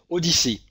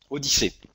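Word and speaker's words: OHDSI: si ça doit se ça se prononce odyssée odyssey ou hd aussi au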